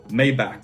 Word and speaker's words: Maybach: after looking into it maybach is a german brand and therefore needs to be pronounced mayba kind of like an open h sound very soft h maybe now if you